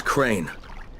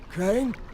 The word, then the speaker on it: Crane: no my name is crane crane crane rhymes with train and brain and sign and gray